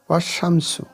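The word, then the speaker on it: والشمس: প্রকাশ কয়েকটি উদাহরণ দেখলে এটা আরো ক্লিয়ার হয়ে যাবে এখানে এখানে দেখুন ওশামস ওশামস এখানে ওয়াল ওয়াল বলছি না কিন্তু ওশামস আলিফ লাম উচ্চারণ হচ্ছে না ওশামসু শিন এটা এখানে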